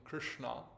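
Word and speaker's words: Kṛṣṇā: Another name of the Kalindi is Krishna, Krishna with a long A at the end, in other words, a feminine name, Krishna, which is also a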